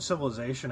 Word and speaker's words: civilization: So the word civilization actually comes from the Latin word uh, civis, um, which in Latin is civis in Latin.